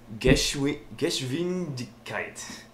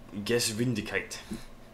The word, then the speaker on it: Geschwindigkeit: Geschwindigkeit in German. Is that the right pronunciation? Is it a hard G or is it like a just come on? No, it's a hard G. Geschwindigkeit.